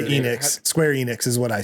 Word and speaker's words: Enix: to square up square onyx if they don't shape up. That that one got me pretty good. like how we just said it's pronounced Enix and you called it Onyx.